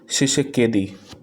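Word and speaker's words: Tshisekedi: तो ये हैं फेलिक्स शिशेकेदी। टी साइलेंट है इनके नाम में, तो वो शिशेकेदी पढ़ा जाएगा।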